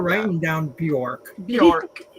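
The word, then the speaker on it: Björk: Bork. Bj O R K. Bork from York.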